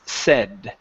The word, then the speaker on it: said: right here okay um this word here instead of s okay it's a short e sound it's said said said okay good uh next